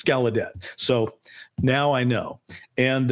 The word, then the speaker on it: Gallaudet: How do you pronounce his name? And he said, it's Gallaudet. Yeah, that's right. And even though he said when his family came over or whatever, it was Gallaudet, or closer to that, it's Gallaudet.